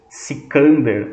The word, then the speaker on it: Sikander: Sikander é como os persas pronunciavam o nome de Alexandre.